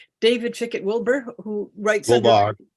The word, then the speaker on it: Wilbar: we've gotten um David chickett Wilbur who writes will Barr will Barr I've been it's been mispronounced my entire life well keep correct correct